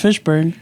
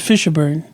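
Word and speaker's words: Fishburne: say his name I it's just Fishburn you said Fisher bur it's because I was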